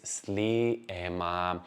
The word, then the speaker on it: Sliema: the screen as well, so you can hear my pronunciation, which is going to be in Maltese, and you can see how they are spelled.